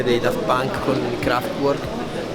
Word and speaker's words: Kraftwerk: l'altro ho scoperto adesso, io l'ho sempre pronunciati Kraftwerk, invece ho scoperto che si dice Kraftwerk.